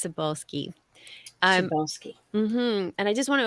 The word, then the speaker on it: Cybulskie: and you are asking how to pronounce my last name everyone stumbles over it so don't worry about it it's sabolski and I just want